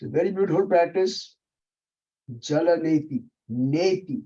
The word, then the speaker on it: neti: Don't call it neti. Some people have a tendency, because it is spelled as Neti. People tend to pronounce it as neti. It's not neti, it's neti. Soft T.